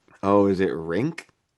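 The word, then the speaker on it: Rienk: Which by the way, insane name, Rank. Rink When I think of Rank, I think of like stinky. No, it's like rink, ice rink. Oh, is it rink?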